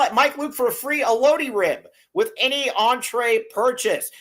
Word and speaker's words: elote: How do you pronounce it? Elote.